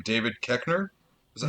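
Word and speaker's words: Koechner: gosh damn i can't remember his name david keckner is that how you say it yeah when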